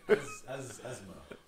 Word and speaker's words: asthma: What's the opposite of asthma? Because I'm having that right now. Wait, did you say asthma? Yeah. Is that how it's said? No. Okay. Asthma.